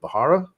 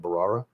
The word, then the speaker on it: Bharara: if it's necessarily with bahara barara however you say I always say it wrong I think the H is silent barara um I believe he's